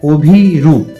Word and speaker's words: অভিরূপ: একইভাবে first step আমরা pronunciation করব অভিরূপ। এক্ষেত্রেও শেষে প সাউন্ডটা শেষে হসন্ত আসবে। কারণ অভিরূপ। এমনি বলছি না। অভিরূপ প এর উচ্চারণকে শেষে ছেড়ে দিচ্ছি। জাস্ট প।